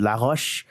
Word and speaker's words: LaRoche: as I do, but that's definitely a French name, so I'll pronounce it LaRoche.